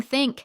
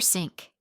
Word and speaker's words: think: Instead of saying think, some learners say tink or sink. Instead of this, they say dis or ziz. Quick tip. Place your tongue between your teeth, not behind them, and gently blow air out.